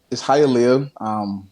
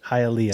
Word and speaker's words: Hialeah: You're from, correct me with pronunciation here, Hialeah Gardens. Is that how you say it? Yeah, it's Hialeah. Hialeah.